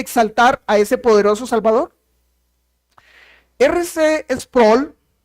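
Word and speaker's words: R. C. Sproul: a ese poderoso Salvador rc sproll o algunos lo pronuncian ars sproll dijo esto el infierno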